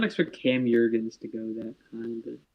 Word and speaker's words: Jurgens: Yeah, I did not expect Cam Jurgens to go that high, but... Is it pronounced Jurgens? Jurgens, yeah. Oh, damn. I've been saying Jurgens.